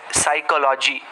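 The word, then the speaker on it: psychology: उसके पश्चात काफ़ी सारे शब्द ऐसे होते हैं जिनमें साइलेंट लेटर होता है, जैसे साइकोलॉजी। अभी बच्चों का पूछना कॉमन है कि सर अगर P का उच्चार लेना ही नहीं था तो आपने P क्यों लगाया।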